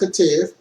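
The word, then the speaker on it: Ketiv: The Masoretes modified the written text, Katev, pronounced Katev, in a number of places.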